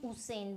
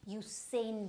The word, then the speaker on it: Usain: It's not Usain Bolt, it's U. So this U has to be pronounced in this manner only. Usain Bolt, right? Okay, so Usain Bolt.